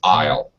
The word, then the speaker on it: isle: the shorten form of the word Island like an island in the ocean is isle Isle Isle Isle they are all homophones they all sound exactly the same uh okay so all